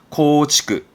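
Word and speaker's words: 構築: 발음은 코치크.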